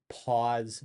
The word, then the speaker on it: Paz: Um, but it's his girlfriend, it's Lorenzo's girlfriend, the titular character played by Paz Vega. So yeah, I know it's spelled P-A-Z, but think pause, as in please don't pause this video review.